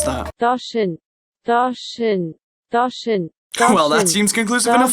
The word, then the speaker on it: Doshin: How the hell do you pronounce that? Doshin.